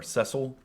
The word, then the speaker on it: Cecil: if i didn't mention the different ways you could pronounce cecil or cecil either way in my mind is correct um i've heard people with this name pronounce it both ways so i go with